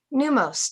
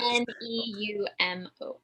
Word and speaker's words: Pneumos: Neumos. One more time for dyslexia guy. P-N-E-U-M-O-S, like pneumonia.